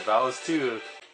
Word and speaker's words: Valis II: cool all this too yep that's how you pronounce it vowels too could it be roadless okay that was the